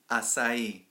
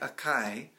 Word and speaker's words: Açaí: States you will encounter people who say that word incorrectly so when you get in there and you're talking and you hear somebody say I really like a chi now you know what